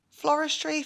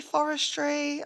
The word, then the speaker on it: floristry: Floristry, forestry. I mean, there is an L in there.